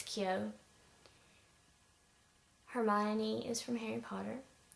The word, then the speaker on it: Kyo: I think, were unsure about how I was pronouncing it, like it was Kyo or something, but it's Kyo.